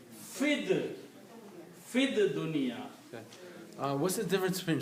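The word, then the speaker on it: فِي الدُّنْيَا: So you don't even pronounce this ye here. You say fid dunya.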